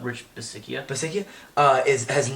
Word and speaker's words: Bisaccia: Bisaccia? Rich Bisaccia.